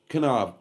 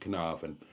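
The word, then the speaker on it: Caernarfon: Okay, Caernafon. Caravan. Well, the English pronounce it Caravan. It's properly pronounced Caravan.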